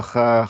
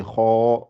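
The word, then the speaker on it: خ: Et le kha, elle sort au début de la gorge. Ça fait ar, ar, ar. Ouais, faut vraiment bien la prononcer. Kho. Et elle est gonflée aussi. C'est parmi les lettres qu'on dit, elles sont emphatiques, elles sont gonflées. Kho, kho, kho, kho, kho. On dit pas kha, kha, mais on dit kho, kho.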